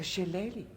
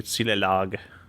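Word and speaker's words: shillelagh: back this plaster my sister brought back a shilleli ah so that's how you say it I've always been calling silelag I've got a red nose we so you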